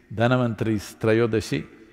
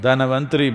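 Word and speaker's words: Dhanvantari: the pavali it is dhanavanthari's not indian people must connect you know don't go on clipping away one one syllable and come dhanavantri becomes done becomes terror don't keep clipping it away so here we are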